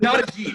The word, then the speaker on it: Ajit: So Ajit Pai would be the best way to pronounce it.